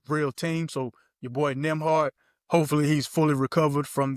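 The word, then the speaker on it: Nembhard: Cuz it's Is it Is Nimhard even on the Pacers then? Am I saying that wrong? Yeah. You saying it right. So, it's Yeah, he's on there. Nimhard.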